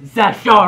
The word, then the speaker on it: Zachary: It's pronounced Zachary. Okay. No E, the E is silent.